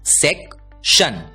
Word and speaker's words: section: हमें याद रखना है TION का उच्चारण होता है शन। ध्यान दीजिए, TION की आवाज होती है शन और इसलिए ये बड़ा शब्द भी हम आसानी से पढ़ने वाले हैं क्योंकि SEC इस 3 अक्षरों का आवाज होता है सेक, TION की आवाज होती है शन और इसलिए SECTION इस शब्द का उच्चारण होता है सेक्शन, सेक्शन।